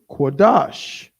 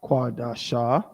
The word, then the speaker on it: Qadash: Christ same thing with quadash how many syllables is that two it's not quadasha skodash so we know what